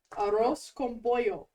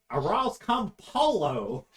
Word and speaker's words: arroz con pollo: Oh my god, say it right. Arroz con pollo. Arroz con poco roco. Arroz con polo.